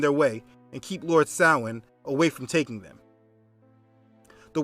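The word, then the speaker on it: Samhain: year now the word doesn't look how it's pronounced Salin is a night celebrating death in hell it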